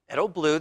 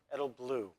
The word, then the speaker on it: Edelblut: Edelblut, the T is silent.